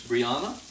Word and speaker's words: Brianna: i just realized i'm probably still mispronouncing your name because it's like bryan from libriana i'm so sorry it's brianna i believe that's what